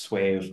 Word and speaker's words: SUAVE: I think it's pronounced Suave. Suave, yeah.